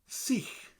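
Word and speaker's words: sych: Seech. Seech. Seech. So C and the h at the end of it.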